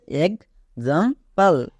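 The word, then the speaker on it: example: করে দেব next এক্সাম্পল এখানেও দেখো এক্স আছে এবং তারপরে এ ভাওয়েল এ ভাওয়েল থাকার জন্য কি হবে গোজ হবে তাই এটা হবে এক্সাম্পল এক্সাম্পল যেকোনো একটা রুলস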